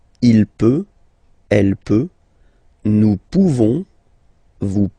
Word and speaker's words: pouvons: Nous pouvons, okay? You don't pronounce the final S. Nous pouvons.